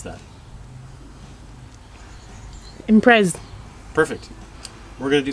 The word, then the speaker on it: Impreza: Melissa, how would you pronounce that? Impreza.